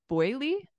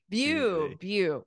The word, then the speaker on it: Beaulieu: Okay, so it looks like boy, what was it? Boyley? Bowley? Bowley. Bewley. Okay, Bewley. It looks like Bewley is like a rich place with all these fancy cars.